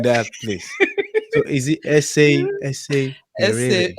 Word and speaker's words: Eseverere: So is it essay verere? Eseverere. Okay, I tell people let's make Eseverere. it simpler. Just assume that the last RE is silent.